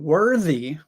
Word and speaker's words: worthy: worth um so the the th in worth is the unvoiced th worth however in worthy now we have the voiced th the worthy you are